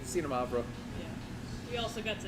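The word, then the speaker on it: Xinomavro: Just We're- treat the X like a Z. Zeta Mavro.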